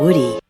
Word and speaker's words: Woody: Então, Now, Woody. é muito comum levar o som do D ao som do R. Isso é muito comum, é uma característica muito comum, normal do inglês americano.